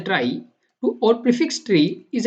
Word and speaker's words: trie: right so problems is a try pronounced as a try to or prefix tree